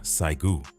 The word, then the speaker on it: Saigu: The Korean-American community calls what happened to them Saigu, the Korean pronunciation of April 29th, 429.